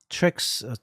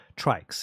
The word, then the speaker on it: TRYX: Trix, TRYX, if you want to call it. If you pronounce it as Trix. Yeah, Trix, yeah.